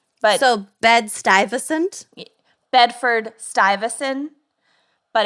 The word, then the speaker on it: Stuyvesant: pronounce it before i lived in new york stewie vescent and they're like what and it's pronounced stuyvesan but so bed stuyvesant bedford stuyvesant but it's oh bed stuy beds got eye